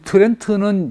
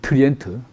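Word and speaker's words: Trient: 주교들 다 모아 가지고 트리엔 트렌트는 영어식 발음이고 원 이제 이름은 트리엔트 어 트리엔트 종교 회의를 했다 이거지.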